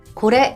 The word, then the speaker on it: これ: 또한 제 가 발음 해 보니 " 코레 ", " 소레 ", " 아레 " 는 끝 부분 이 높게 발음 됩니다 .